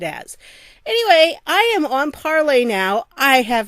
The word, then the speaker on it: Parler: a French teacher, so I'm going to say it like parler. Okay, I think that's how it's pronounced. I don't know. I've heard people say parlor too, but I say parler because that is the French infinitive to speak.